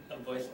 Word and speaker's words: avoided: Interaction is avoided by. That's what we're looking for, right? Avoided. So three syllables, right?